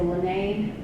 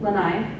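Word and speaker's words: Lānaʻi: eating birds um this under here is the lynnae Lanai it's Hawaiian I'm sorry I don't know how to pronounce it Lanai thank you so this is the Lanai cat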